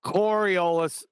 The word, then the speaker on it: Coriolis: was off Moot and it's not the corol effect it's the coris it's not coriolis anymore chocolate we've been mispronouncing it for years it's the Coriolis what B Hardley poor